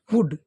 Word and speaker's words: would: इसमें ध्यान देने वाली बात है, देखो WOULD, इसमें वुड लिखा क्योंकि एल है, वो कुछ वर्ड इंग्लिश में ऐसे होते हैं जो साइलेंट रहते हैं, बोले नहीं जाते, तो इसमें एल है वो बोला नहीं जाएगा, तो इसलिए इसको लिखा WOULD को क्या बोला, क्या बोला जाएगा? वुड। फिर SHOULD, उसी में सेम